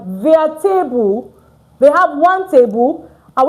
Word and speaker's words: table: Just, you see, it's spelled the same way in English, but it's not pronounced the same way in French. It's not tableau, it's tab.